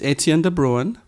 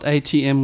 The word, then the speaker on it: Etienne de Bruin: lately my name is Etienne de bruin it's not ATM with an in although I do say